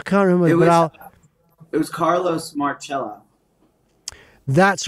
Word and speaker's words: Marcello: It was Carlos Marcello. That's right. I was calling him Marcello for about four chapters. But Marcello is the Italian pronunciation.